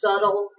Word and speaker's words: subtle: definition is the B the B is very soft it's kind of hidden when you pronounce it it's just subtle kind of sounds like it would rhyme with shuttle and stay back bud